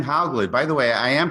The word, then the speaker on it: Hauglid: that all right sure all right m how glad by the way i am pronouncing that correctly yes okay is an associate